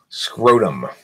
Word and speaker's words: scrotum: Scrotum. It's called a scrotum, okay? Yeah, you don't read those. It rhymes with bodum.